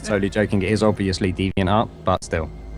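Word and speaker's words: DeviantArt: This is D Van Tart.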